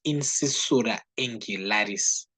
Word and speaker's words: incisura angularis: Or we can just say angular incisure, but that's not how we properly call it. It's incisura angularis.